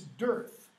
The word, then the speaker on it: Darth: what does Darth mean it's not pronounce correctly an English pronunciation it's dearth what if you have